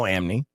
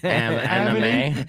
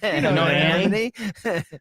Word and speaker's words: anime: Because you know Amni. Did I say it wrong? Anime. Anime.